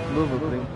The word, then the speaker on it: Nürburgring: Mi dici per piacere una volta come si pronuncia giusto? Cosa? Dai, è sempre quello che ti chiedo, il Nürburgring. Nürburgring.